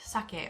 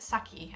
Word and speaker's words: sake: to Sweet alcohol or sweet sake or sweet saki as some of my American friends pronounce it amazake is essentially a